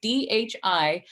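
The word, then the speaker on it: धी: thee as well it's DHI pronounced with a soft D which means wisdom or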